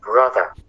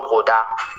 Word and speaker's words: brother: dit frère en anglais, c'est brother. Brother. Et non broda. Broda. Il faut avoir une attention particulière, faire attention à la prononciation brother.